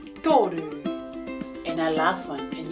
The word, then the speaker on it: toru: It starts with the sound ta, tō, tōru.